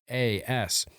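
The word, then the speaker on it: Västerås: You pronounce it almost exactly like Westeros. It's Vasteras.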